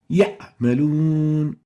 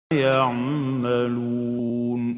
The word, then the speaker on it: يعملون: First mistake is truncating the pronunciation of the Ain when it is sakina, when it has sukun. Example, يعملون, يعملون. This is wrong. The right way of pronouncing it is يعملون.